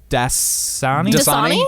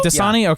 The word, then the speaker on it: Dasani: I know how to say this, but what's that water company that Dasani? Dasani? Okay. I never hear that one advertised. I guess water's not advertised that much on television. No, I mean Dasani.